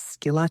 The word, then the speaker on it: Schillace: And, um, my last name, which is hard to spell and pronounce, is Skila, and it's S C H I L L A C E.